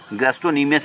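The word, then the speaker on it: gastrocnemius: number एक गैस्ट्रोक्निमियस massage गैस्ट्रोक्निमियस कहते हैं आप इस चीज होगा साइलेंट घोड़ों का बहुत लोग गेस्ट सीढिय़ां चढ़ते गलत है गैस्ट्रोक्निमियस इसका करेक्ट प्रनंसीएशन है आगे बढ़ते हैं कुछ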